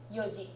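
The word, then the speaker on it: 四時: 4 o'clock is another one of those that's a special pronunciation. Do you remember what it is? It's like yon, but shortened to yoji.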